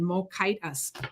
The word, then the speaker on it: Mokitas: She put in how to pronounce her last name, Mokitas. Love it, because I'm always messing up names. That is wonderful, from Illinois. I love Just it. remember, Mokitas. rhymes with Titus.